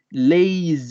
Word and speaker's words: lazy: y significa entonces flojo ojo con la pronunciación también de la palabra leyes y que dado que se escribe con zeta la pronunciación también tiene que ir con zeta porque si lo nombramos con zeta se podría entender algo diferente en este caso tiene que ser obligatoriamente leyes y ley y sí y